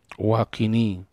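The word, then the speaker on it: وقني: Waqini, sekedar mengingatkan, waqini itu tidak boleh dibaca panjang sebagaimana ada orang baca panjang. Seperti kita dengar waqini, itu kesalahan dalam pengucapan namanya. Karena dia amar, qi, waqini syarra ma qadait, dan peliharalah aku. Karena memang asal katanya wiqayah, pemeliharaan.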